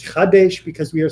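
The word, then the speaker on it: חַדֵּשׁ: Notice, by the way, Chadesh, not Kadesh. A lot of people mispronounce that because the ch and the k are really linked. It's Chadesh because we are saying renew, make it Chadash,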